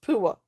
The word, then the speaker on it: Pua: Um What is it pronounced? Pua. Pua, okay, got you. Mauri for Abilene. I reckon it's funny or shrewd double it. Okay. Got you. Uh cool. Pua. Pua. Pronounced Pua.